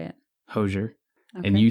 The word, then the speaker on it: Hozier: Hozier.